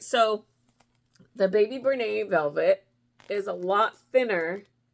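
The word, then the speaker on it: Bernat: Now, I say Bernay because that is how the company pronounces it, because it is a French word.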